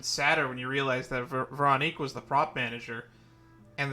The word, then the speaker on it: Veronique: I also didn't expect Veronique to be the way her name was pronounced when we first met her, mainly because I expected it to be pronounced Veronica.